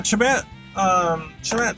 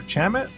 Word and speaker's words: Chamat: It's spelled C-H-A-M-A-T, but you pronounce it Jamate? If I'm doing that right. That's weird, why is it like that? That's so strange. That's a weird way to pronounce a C-H.